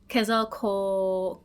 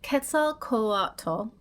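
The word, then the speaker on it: Quetzalcoatl: my whole life because now I have the pronunciation right here. And uh we're going to be talking about the Kazal Kal. So though not strictly an ampheter, the Ketzel Kato is a feathered serpent god from Mesoamerican cultures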